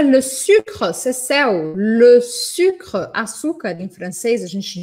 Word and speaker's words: le sucre: Elisa, como pronuncia le sucre, Cécel? Le sucre, açúcar, em francês, a gente diz le sucre.